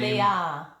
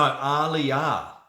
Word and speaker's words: Aaliyah: Leah. Leah. Oh, okay. Thanks, Leah. You got it right. No, Aaliyah. You pronounce my name Aaliyah. Aaliyah.